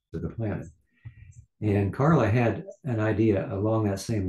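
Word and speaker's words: ห้า: 555 is used in Thailand because the number five in Thai language is pronounced ha.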